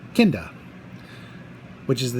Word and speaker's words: Kinda: Because the next episode is kind of actually it's pronounced Kinda, which is the name of the native inhabitants of the planet they land on.